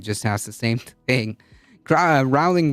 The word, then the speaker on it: Rowling: Rowling rhymes with bowling.